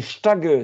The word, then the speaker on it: Stage: alors on dit alors la prononciation va vous tromper parce que euh il faut prononcer St c'est stage stage en français le le le Danois